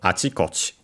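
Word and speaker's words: あちこち: The accent of achikochi on its own because of course it becomes a compound, and so the accent is on the first chi, because it's technically the last syllable of the first part of the compound.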